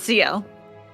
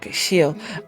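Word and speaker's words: Ciel: It's Seal. Seal. Uh, how do you spell it?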